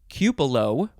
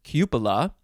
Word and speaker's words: cupola: those intellectual types um for instance cupelo instead of cupola that one is not so accepted because typically the a at the end of cubela is never pronounced as an o but some people like